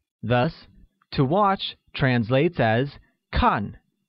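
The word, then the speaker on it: 看: to watch translates as con which is pronounced with the falling tone thus I don't like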